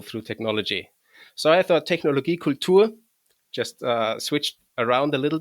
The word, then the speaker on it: Technologie Kultur: And so my handle is properly pronounced as Technologie Kultur, which is a German word, and it's pretty transparent to English speakers, I guess, because it's technology and it's culture.